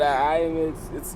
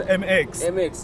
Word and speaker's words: MX: We got IMX, it's how you pronounce it? It's MX.